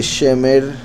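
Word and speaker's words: שֶׁמֶר: Y el nombre Shemer se escribe igual que el verbo Shamar, solo que se pronuncia diferente, porque es un sustantivo que significa el que preservado o guardado.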